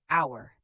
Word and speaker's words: hour: Silent H at the start of some words. Honest, honor, hour, heir. Honest, you say on-est. Hour, you say hour.